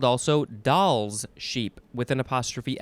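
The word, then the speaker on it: Dall's: a kind of sheep sound next is oh doll's porpoise or it is as it's spelled poor poise d-a-l-l apostrophe s it is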